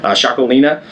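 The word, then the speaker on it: Txakolina: is called chaki and it's spelled crazy it's TX a o l i n a shakina um it is from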